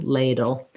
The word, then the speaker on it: ladle: then i just have first syllable stress tense a lay ladle make sure you use a diphthong for that a it's gliding between two sounds a little ladle that's